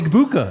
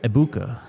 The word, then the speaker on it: Egbuka: Ike says in the chat, as a man from where he is from, the G is silent. Okay. Emeka Egbuka.